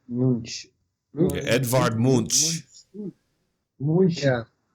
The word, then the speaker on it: Munch: How do you pronounce the last name? Was it Munch? Munch.